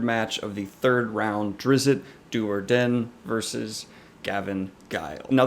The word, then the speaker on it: Drizzt: Drizzt, or Drizzt if you want to say it right, as I've gone